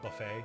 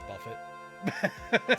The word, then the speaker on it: buffet: every syllable so like instead of buffet it was Buffett stuff like that okay